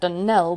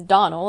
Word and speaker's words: Donald: As for that denell woman, she'll get no denelling from me. I can assure you the name is Donald and always has been.